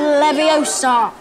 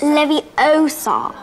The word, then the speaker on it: Leviosa: you go then wiri Leviosa stop stop stop you're going to take someone's eye out besides you're saying it wrong it's Levi Oar not levio you do it then if